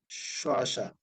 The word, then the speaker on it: শ্মশান: আবার শ্মশান, আমি যদি এরকম লিখি, এখানে যদি একটা ম ফলা দিই, তো এই মটার কি হবে না, উচ্চারণ হবে না, স, শ্মশান।